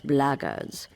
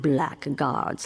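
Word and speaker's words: blackguards: If you're another one of those blackards, and that's the way to pronounce it, not black guards like that thug insisted it was, then my answer is the same.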